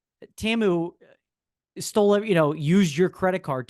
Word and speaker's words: Temu: Oh, Temu.